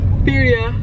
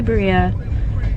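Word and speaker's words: birria: I had Is it pronounced biria? Birya. Birya tacos. Oh my gosh. I always say Berea, but I'm not that wellversed when it comes to cultures to be honest.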